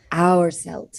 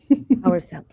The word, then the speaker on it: Hourselt: So hour like time. Hourselt. Felt. Okay. Like belt. So yes. I have got Hourselt.